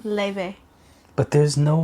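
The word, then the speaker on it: Laufey: From the Start by Laufay.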